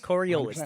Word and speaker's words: Coriolis: Coriolis? Coriolis.